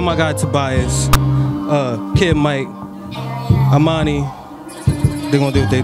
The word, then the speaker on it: Amani: Cause I was about to say Amina. No, it's Amani.